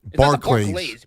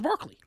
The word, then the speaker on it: Barclays: Barclays. Barklay. It's like Charles. Barclays. Like Charles. Barclays. Like Charles. Charles Barkley. No, no, no. That's Barkley. That's how you pronounce it.